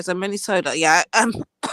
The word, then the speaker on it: Minnesota: policies of the men is it menot Minnesota is it Minesota it can't be men m i n e the way the way the Americans will pronounce it manipulat looks like manipul I know but it's Minnesota okay so Minnesota yeah um